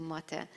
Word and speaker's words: MATE: You might pronounce it MATE or MATE or whatever it suits your language, but in Hungarian we refer to it to MATE.